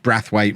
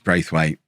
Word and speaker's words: Braithwaite: You've all told me as well that it's pronounced Brathwaite rather than Braithwaite. I remember the commentators saying it like that during the Euros as well. I do remember it, but no, it's not. It's Braithwaite.